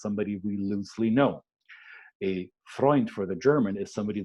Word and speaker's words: Freund: In German, it's called Freund. Freund, friend, sounds very similar, is spelled very similar,